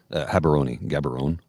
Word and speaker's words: Gaborone: Gaborone. Gabs. Everybody calls them Gabs. Gabs or Habs. But, yeah. Gaborone. You can pronounce it either way.